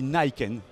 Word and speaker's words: Niken: Cette Niken, puisqu'on dit Niken, on le prononce à l'américaine, c'est un tout nouveau véhicule 3 roues qui a démontré maintenant depuis quelques temps des capacités extraordinaires.